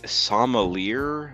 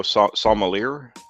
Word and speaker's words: sommelier: I'll give a few more moments here for anybody else to don't pronounce the ER. So sommelier? Sommelier.